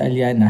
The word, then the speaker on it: Aliana: Before you can say my name, it's Aliana.